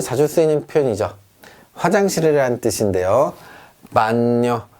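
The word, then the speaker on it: bagno: 반뇨, 반뇨 합니다. 자, 여기 G가 있으나 무시하고요. 그냥 N의 발음만 해줍니다.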